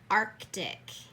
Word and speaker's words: Arctic: A lot of people will confuse Arctic and Arctic. And it should be Arctic, the one that has the C right in the middle.